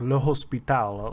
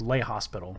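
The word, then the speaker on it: L'Hôpital: This is actually, it's a French name. This is an Anglicanization of his name. I believe it would have actually been pronounced like Le Hospital, like lay hospital, literally. Don't quote me on that. I'm actually not sure, but a lot of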